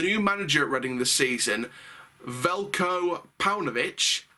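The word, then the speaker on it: Veljko: manager reading the season velcro pounovich it's a silent j in his first days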